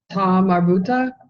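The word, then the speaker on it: تاء مربوطة: Ta marbuta. Ta marbuta. Very good. Ta marbuta. It's actually the letter ta. Okay. But it's pronounced as kind of like a ha sound, unless it's voweled.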